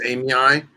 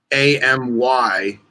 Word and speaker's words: amyae: So like Knobtails, Nephris amyi, it's AMYAE because it's named after a girl named Amy. Yeah. But you wouldn't say Amy or Amy A. It's Amy I because the AE is pronounced I.